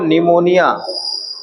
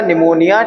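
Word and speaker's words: pneumonia: जैसे एक एग्जांपल लिखो निमोनिया टर्मिनेटिंग निमोनिया निमोनिया की स्पेलिंग क्या है? नहीं पी एन ई P silent है।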